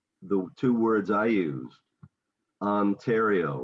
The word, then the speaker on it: Ontario: see my mouth opening ontario yeah and then you have that one is interesting because you have both the short and the long so ah right ontario ontario right now yeah and